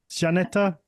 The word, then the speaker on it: Żaneta: you had put on well um keep so pronunciation of your of your name Sor chanet chaneta janeta janeta yes okay because I didn't want to just keep calling you zaneta because it's it felt lazy um obviously you